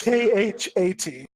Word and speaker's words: Xat: sorry a cat but it's spelled xat and pronounced KH 80 I'm gonna look at